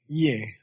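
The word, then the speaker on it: དབྱེ: Ye.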